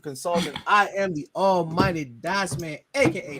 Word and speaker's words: Dycezman: And as we sign off for Sheriff, for the executive consultant, I am the almighty Dycezman, aka the Z is silent, but I am elite.